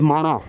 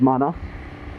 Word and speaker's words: Mana: की तरफ जाता है एंड प्रोनाउंस्ड एज माना, नॉट माना।